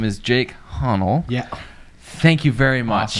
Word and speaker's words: Hahnl: brothers slash business owner his name is jake honnell yeah thank you very much thank you very much for pronouncing enunciating my last name of course what's